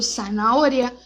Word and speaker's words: zanahoria: Então, dança, sapato, zanahoria, sempre dessa forma, com som de S.